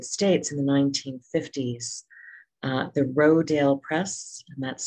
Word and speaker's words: Rodale: in the united states in the 1950s the roedale press and that's spelled r-o-d-a-l-e rodale press started to raise consciousness about organics